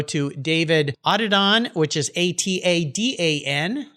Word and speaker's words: Atadan: Again, you can go to David Atadan, which is Atadan. Spelled a little different than it sounds, but I think I got that pronunciation right, didn't I, Atadan?